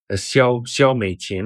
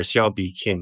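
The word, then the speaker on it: 蕭美琴: Xiao Meiqin or Xiao Bi Kim, depending which dialect.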